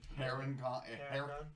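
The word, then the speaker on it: Harengon: remember how to say hering Aragorn it's like Aragorn just putting H at the beginning 40 okay so 40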